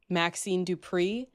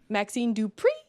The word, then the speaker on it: Maxine Dupri: I personally went with Maxine Dri. Say it right. Maxine Dupri, who I like I can't believe how far she's come in such a short amount of time.